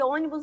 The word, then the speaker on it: ônibus: que tem seis letras é uma palavra proparoxítona por quê Porque a sílaba mais forte é a antepenúltima veja só um ônibus tem três sílabas um ônibus e a a a última sílaba é a sílaba mais forte ó última penúltima antepenúltima on nibus tão Sion é a palavra é a sílaba mais forte que a gente vai chamar de sílaba tônica né e é a antepenúltima sílaba Então nós vamos ter